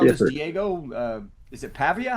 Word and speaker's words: Pavia: So, you know this Diego uh is it Pavia?